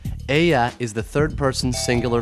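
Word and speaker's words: ella: with a feminine word remember to pronounce the Double L like a y we're not dealing with L Fitzgerald here Aya is the third person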